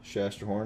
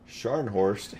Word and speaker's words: Scharnhorst: good times with the shasta horn a bit of the bad times Chester horn can I said I said it wrong again Scharnhorst and does have the